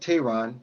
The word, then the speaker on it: Tehran: It's pronounced Tehran, but it's yes, the name is Turkish.